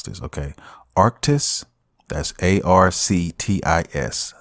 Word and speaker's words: Arctis: How do you pronounce this? Okay. Arctis.